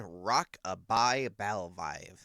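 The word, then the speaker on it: Rock-a-Bye Bivalve: Number 27, Rock-a-Bye Balvive.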